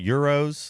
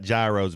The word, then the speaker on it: gyros: I think what she thought there was a Greek restaurant that is it called Euros? Because it's not gyros, but it's spelled that way.